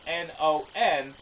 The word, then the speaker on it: Non: And it's spelled N-O-N, and I'm not sure if I'm pronouncing it right, but I believe it is Non.